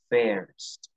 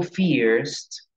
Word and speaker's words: first: qué Porque es que algunas personas cometen un error fonético al pronunciarla y dicen First name bien Qué pasa cuando yo le cambio el fonema a esta palabra si yo digo fears name Yo ya no estoy diciendo primer nombre resulta que con es